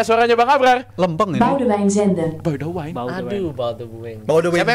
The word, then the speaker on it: Boudewijn Zenden: Boudewijn Zenden. Boudewijn. Aduh, Baldwin. Boudewijn Siapa yang benar? Zenden. Rizal. Karena kalau kata Koci Belanda tuh dibaca semua.